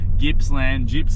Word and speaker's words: Gippsland: Like we're calling Gippsland for that long, and we didn't mean to do that. There's no J.